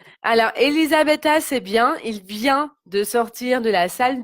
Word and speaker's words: vient: Et donc, n'oublie pas, c'est il vient avec un T. D'accord? Il vient T. Donc, c'est la même prononciation que je viens ou tu viens, mais on va mettre un T à la place.